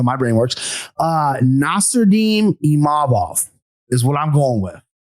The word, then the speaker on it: Imavov: So it's really just about emphasizing that second syllable, Imavov, and not Imavov.